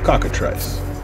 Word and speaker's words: cockatrice: do you pronounce that trace trice cockatrice very like a cockatoo cockatrice job to troll I